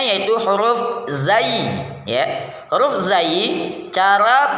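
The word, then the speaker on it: ز: Huruf zai cara pengucapannya yang pertama ujung lidah diangkat ke atas sampai hampir menempel pada gusi dua gigi seri bagian atas.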